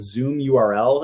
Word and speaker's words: ZMURL: Another one that I think is really cool is called Zoom URL. It's spelled ZMURL, and basically it's a tool for running paid and doing RSVPs for virtual events.